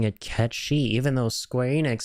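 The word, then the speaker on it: Cait Sith: this character's name Ki so yeah he is pronouncing it Ki even though Square Enix said it's Kat Sith not long ago so which one is it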